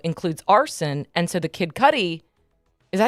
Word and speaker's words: Kid Cudi: The racketeering, though, includes arson, and so the Kid Cudi, is that how you say his name?